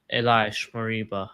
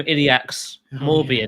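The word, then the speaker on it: Ilaix Moriba: Yeah, Elias Mariba. I've learned how to say his name now. Who's that? Oh, did you see Dan's tweet? I called him Iliax Morbia, didn't I? Yeah, X's a Z.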